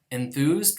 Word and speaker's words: enthused: Enthused would be pronounced as dentalized, enthused, in order to match the dentalness of the following interdental sound, enthused.